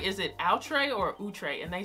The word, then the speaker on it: Outre: like different or something like that it's it's utre if you see it typed out it's it's utre so um that's the actual way to pronounce